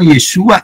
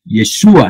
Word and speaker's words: Yeshua: Então aqui nós temos a revelação, Yeshua é a pronúncia hebraica do nome Jesus, né?